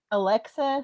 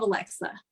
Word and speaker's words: Alexa: I'm like, you got to pronounce the X.